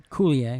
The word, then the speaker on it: Coulier: Coulier.